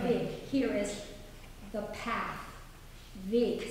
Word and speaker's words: Weg: Weg, spelled W-E-G. There's another word in German spelled exactly the same way. W-E-G also means away. Geh weg. It's pronounced with an open E and very K sound.